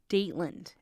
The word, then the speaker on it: Dateland: and a history lesson to be clear this is how locals say it Dateland and it's super tiny